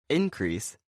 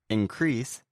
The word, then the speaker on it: increase: Increase is a noun, and increase is a verb. Right. The noun, increase, has the stress on the first syllable, and the verb, increase, has the stress on the second syllable.